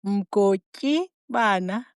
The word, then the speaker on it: Mgotyibana: Sorry, how do you pronounce it? Mgotyibana.